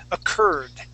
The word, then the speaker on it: occurred: This word is occurred. Occurred. No, where is it? Occurred. Occurred. Occurred. All right, now this is going to be a D. There you go. That's the D sound.